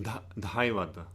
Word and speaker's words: Dhaivata: Da, Devata, donkey. Dhaivata. Daivata. And Nisada, elephant. It also can be pronounced Nikada, but again, Ka is not pronounced like the second consonant of the Ka group.